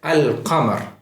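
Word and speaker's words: القمر: So these words are pronounced like al-qamar, where the lam is pronounced distinctly with a sukun.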